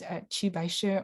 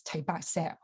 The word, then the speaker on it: Qi Baishi: And then here is one of the paintings by Qi Baishi. Sorry, I keep switching my pronunciation between Mandarin, which is Qi Baishi, or Cantonese Tai Ba Se.